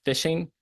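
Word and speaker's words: phishing: so you have uh the first one is fishing pronounced just like your real and Rod fishing that's when they're using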